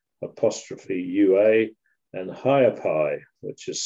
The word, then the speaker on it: Ha'apai: aiowa which is spelled e apostrophe UA and higher Pi which is spelled h a apostrophe a p-a-i so they